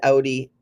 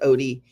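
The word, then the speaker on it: Outie: to Odie art and it's o-u-t-i-e-a-r-t it was Audi but it's pronounced Odie but she's from I would say the Netherlands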